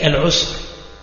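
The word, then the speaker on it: العسر: du Coran, al-yusr et al-usr. Donc al-yusr bil-ya ou al-usr bil-ayn. Et le reste, c'est la même prononciation.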